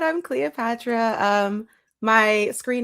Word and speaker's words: Cleoxpatra: Um, as you said, I'm Cleopatra. Um, my screen name is spelled Cleo Expatra, but the X is silent.